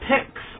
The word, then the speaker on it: Pix: Some people say Cinema Picks, P-I-C-K-S. No. Ours is pronounced P-I-X. It's something I came up with, like picks, like movie picks, or Netflix, or something like that.